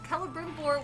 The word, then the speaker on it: Celebrimbor: So Celebrimbor was the ringmaker. The C is pronounced like a K.